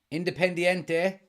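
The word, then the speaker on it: Independiente: as well yeah right independente that's how you pronounce that independ independ yeah independente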